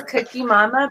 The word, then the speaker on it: QuqiMama: It's Cookie Mama, but not spelled like you think, because I'm difficult.